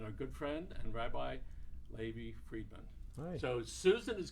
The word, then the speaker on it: Levi: Levi rhymes with baby.